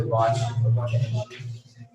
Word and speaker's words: watch: The verb for ध्यान से देखना should be इसमें टी साइलेंट रहता है आवाज एक को बोलते नहीं वाटच नहीं बोलते वॉच वाले की मात्रा टच होती है।